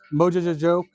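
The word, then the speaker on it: Mojo Jojo: Yeah, so Mojojojo. Mojojojo. That's right. That's how you pronounce it.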